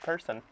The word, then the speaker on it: Person: Zach person dude which it is pronounced person it is person it's been person it's always been personally